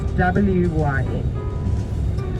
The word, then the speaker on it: wyn: So you spell it V-A-I-N, and the word in Afrikaans is W-Y-N. So in Afrikaans we say wyn vir die pyn. I think you got that one. Wine for the pain. So wyn is the word for